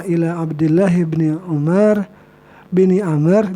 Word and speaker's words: Amr: Bil awaliyah, dengan yang pertama, ila Abdullah bin Umar bin Amr. Jadi kalau ada wawu di sini Amr bacanya ya, sampai kepada Abdullah bin Amr bin Al-As.